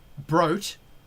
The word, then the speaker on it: Brute: high-end intense sound on The Brute or broat as it's pronounced um and you um